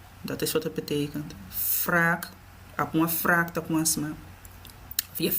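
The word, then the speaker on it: wrâk: Wraak. W-R-A-K. Maar die A heeft dus een circumflex. Wraak wordt dus lang uitgesproken. Je zegt dus niet wrak.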